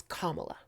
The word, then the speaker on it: Kamala: So my response to this is, first things first, her name is Kamala.